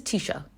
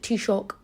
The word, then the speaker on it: Taoiseach: a president or a prime minister this is Tisha that's what he is or Tisha I should say some people pronounce it t-shock but uh I don't do that cuz that's